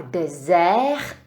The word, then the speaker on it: désert: A naopak dessert avec z, dessert, protože tam jedno s, vyslovuje se z dessert, tak je poušť.